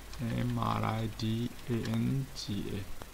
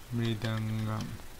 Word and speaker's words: mridanga: This is the Blender 3D software, and khol, or mridanga, not mridangam. This is not mridangam. Mridangam is the different type of musical instrument. It's a perfect pronunciation, khol, or you can to say mridanga.